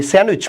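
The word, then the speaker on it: sandwich: এটাকে আমরা বলি স্যান্ডউইচ model, right? Not স্যান্ডউইচ, ইজ স্যান্ডউইচ model, ডিয়ের উচ্চারণ হয় না, তাই তো?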